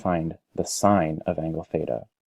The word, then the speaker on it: theta: this symbol right here that you see that's pronounced theta let me write the word out just to